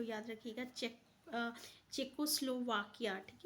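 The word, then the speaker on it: Czechoslovakia: तो याद रखिएगा चेकोस्लोवाकिया, ठीक है, ये इसका करेक्ट प्रोनाउंसिएशन है।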